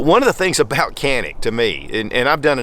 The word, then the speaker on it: Canik: And yes, in Turkey it's pronounced Canik, but we're not in Turkey. Just like we don't pronounce Turkey, Turkey. Now, Century Arms imports the Canik pistols into the U.S.